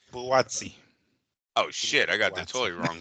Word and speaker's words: Buatsi: The Smith Bautista, is that how you say his name? Buatsi.